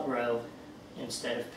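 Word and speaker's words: rho: it's not a p it's a Greek letter and it's pronounced row r h and it's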